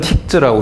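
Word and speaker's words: TikZ: 그래서 아까 발표에서 비머가 사용하고 있는 기본적인 그래픽 툴이 바로 저는 틱즈라고 읽는데 아무튼 PGF 이 툴을 사용하고 있습니다.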